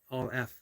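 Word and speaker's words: Aleph: AO says um uh all F I believe is the better pronunciation for the first letter of the Hebrew alphabet probably um always went with elf that's how I I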